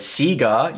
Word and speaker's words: Sega: Who remembers the Sega Dreamcast?